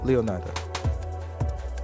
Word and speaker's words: Leonida: Leonida. Well, in Spanish, should be Leonida. So that's cool. Leonida. That's how you say it.